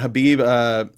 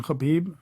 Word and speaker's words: Khabib: course Conor McGregor and habib nurmagomedov is that right actually great excellent pronunciation khabib yeah new McGann enough well